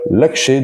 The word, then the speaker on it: Laxe: Après, il me semble qu'en français ça se dit Oliver Lax, mais voilà, j'ai entendu les deux versions, donc on va l'appeler Oliver Laxché. On va essayer de respecter sa langue, enfin son nom, comment il est prononcé dans son pays.